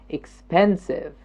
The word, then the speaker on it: expensive: it was three exactly expensive expensive and which one am i stressing expensive this second syllable expensive the pen is jumping up expensive expensive and notice